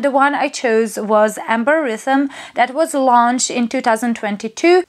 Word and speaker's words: Amberythme: Because the names of all three perfumes in this range are based on some wordplay, and the name of this perfume is a combination of two words, amber and rhythm.